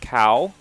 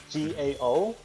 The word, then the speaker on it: Cao: or gao uh it's if you want to do like american ish pronunciation you could say you can go ahead as a cow but the right you know the correct way to say is dao with the g g-a-o so that's how you supposed to say pronounce it correctly for my last name